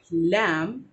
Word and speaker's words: lamb: तो उस हिसाब से when you pronounce लैम, इट इज़ नॉट ब एट द एंड, इट is only लैम।